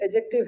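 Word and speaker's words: adjective: अगला जो वर्ड है एडजेक्टिव है क्या है यहां प डी ए और जे के बीच में डी आता है साइलेंट रहता है क्या रहता है अब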